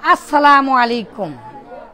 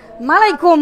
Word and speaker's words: আসসালামু আলাইকুম: আপনি কথা বলতে গেলেই কি বলেন, ইংলিশ ভাষীরা কি বলেন, আমরা ইসলাম, আমরা মুসলিম, আমরা কি বলি, আমরা বলি আসসালামু আলাইকুম।